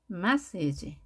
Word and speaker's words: message: 스펠링 하나만 차이가 나는데요 마사지는 aa입니다 이때 2가 들어가게 되면 massage message 강세가 앞에 있습니다 메시지 자 우리가 문자를